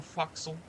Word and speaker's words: forecastle: Unlike many captains, I'm no stranger to the forecastle.